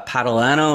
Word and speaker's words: Patalano: i'm joined today with is it uh patalano is that how you pronounce this yes all right phonetics phonics for